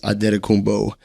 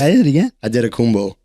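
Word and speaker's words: Antetokounmpo: did it in his that's actually how you pronounce his name he's on his birth ad kumbo cuz in in Greek they don't have um and sorry they don't have D so they use NT and then they don't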